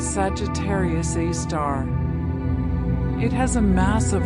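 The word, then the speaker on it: Sagittarius A*: A super massive black hole called Sagittarius a asterisk pronounced Sagittarius A star.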